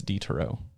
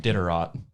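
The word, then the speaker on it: Diderot: uh dennis d terreaux i think it's detero it's not diterot but i wanna say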